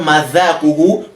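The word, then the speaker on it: مذاقه: When you say the word madhaquhu, bring out the tip of your tongue. Why? Because you are pronouncing the word dhal. So you should say, madhaquhu.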